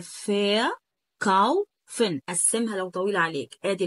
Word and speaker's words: verkaufen: تاني حاجة الاي ار لا تنطق حرف الآ، يعني ما تنطقش حرف الآ، ما تقولش فر كاوفن. فر كاوفن طبعا ده نطق خاطئ، ولكن هي فا كاوفن.